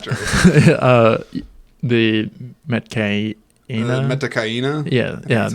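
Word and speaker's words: Metkayina: Metakaina?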